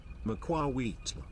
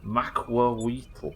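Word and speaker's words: macuahuitl: Macuauhitl. Macuauhitl.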